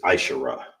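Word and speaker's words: עשרה: How you say 10 is ashara. All right. Ashara. That's how you say 10 in Hebrew, okay?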